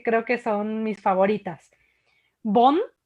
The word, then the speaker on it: Beaune: Bonn, Beaune, se escribe con B de Bravo, Beaune, Bonn, que es la capital